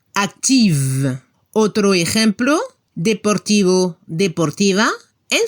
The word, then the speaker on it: actif: La pronunciación para el masculino se debe escuchar la F al final, actif, y al femenino se escucha el sonido V, como una abeja. Active.